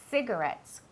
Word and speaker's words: cigarettes: Cuidado con la pronunciación de esa palabra. No es ci, es C. La C y la I siempre tienen un sonido que es como si fuera una S, ¿vale? Cigarettes, como city, ¿vale?